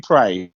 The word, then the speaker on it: Prey: so it rhymes with hay. I just may. We're going to pay because we're going to review Prey.